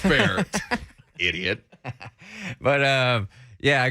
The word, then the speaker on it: Bexar: ep is called pronounced bear so it clears it clears a lot up there but oh i thought i was just reading that wrong i'm like oh you know i know it's pronounced bear idiot but uh yeah